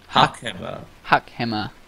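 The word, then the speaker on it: hakama: Huck hammer. Okay. Yes. Not hammer, like a building hammer, but huck hammer.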